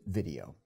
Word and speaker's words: VDO: By the way, the company spells its name VDO, but pronounces it video.